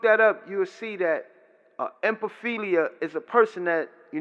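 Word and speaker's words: ephebophilia: Akeley you know there's something called empathy Lea I mean repeat that empathy Lea let me spell it for you it's e ph e b o P H I L I empathy Lea and that's an older person an adult person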